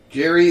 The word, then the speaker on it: Gerry: I believe that's how the name is pronounced. Probably Jerry. Jerry, I'd say.